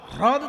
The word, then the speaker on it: হ্রদ: কিন্তু হ্রদ উচ্চারণটা সবসময় হয় না, হয় রফলা দ, হ্রদ তো।